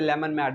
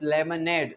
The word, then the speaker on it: lemonade: Most of the time people pronounce this word as a lemon mad, but it's not a lemon mad, it's lemonade.